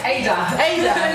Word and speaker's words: Ada: Hi, am I pronouncing it right? Ada.